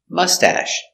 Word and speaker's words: mustache: machine very good pronunciation mustache mustache put the accent on a first syllable mustache soft sound mustache